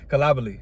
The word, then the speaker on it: Coulibaly: I know I'm saying this last name wrong. Give me Bilal Coulibaly. Coulibaly. Now, that's what it is.